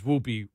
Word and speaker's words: Whoopi: right whoopy I mean because whoopy rhymes with poopy yeah she's the one